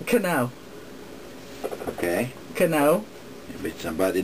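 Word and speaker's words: Knoch: I don't think so strange name it is and it's spelled strange too it's k n o c h and did you say how Cano okay Cano No but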